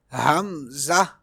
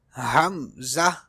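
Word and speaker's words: همزة: Next letter is hamza. Hamza in this way. It is pronounced from the bottom part of the throat.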